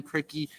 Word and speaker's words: Krikke: But Ben Krikke, that is how you pronounce it.